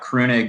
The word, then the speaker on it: Kroenig: child yeah you know my name's spelled phonetically it would be like Kronig I guess I it's a German family originally my German friends say it would be pronounced more like crooning and in Germany but my mom says it's pronounced crane egg and I I believe there so that was my